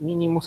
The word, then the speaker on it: mínimos: En este caso, aproximaciones por mínimos, así se le conoce, por mínimos, acento en la I, de mínimos cuadrados.